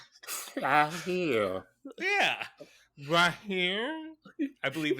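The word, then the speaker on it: Recife: that Portugal likes to call PR here yeah ra here I believe it's how it's pronounced yeah that's correct in Brazil yeah John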